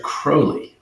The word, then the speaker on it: Crowley: so the black magician Aleister Crowley rhymes with Holi but wasn't he was